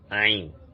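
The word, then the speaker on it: عين: The 18th one, which is this, is called Ain, Ain. The is pronounced from the throat, as if we want to vomit. Ain, Ain, as in I, I.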